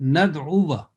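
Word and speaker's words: نَدْعُوا: Alif is written, but on top, either you can find a cross or a small circle. So the pronunciation will be nad'uwa. So this alif is there, but it is not pronounced.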